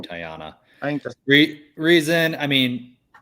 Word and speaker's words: Tiana: pick I think I am gonna choose now tyana from pronouncing it right Tiana I re reason I mean she's you know